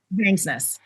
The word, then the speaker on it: Vangsness: Vangs, like fangs. Vangsness. Got it. Vangsness.